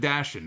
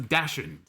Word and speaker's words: dachshund: I said Dashin.